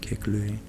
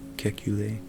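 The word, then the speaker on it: Kekulé: the German chemist Auguste kick lay I pronounce that French okay kick you they and develop the basis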